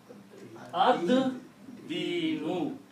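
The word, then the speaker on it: الدِّين: And then you pronounce ad-dinu. You do not pronounce lam because dal is a shamsi letter. It kills the sound of lam.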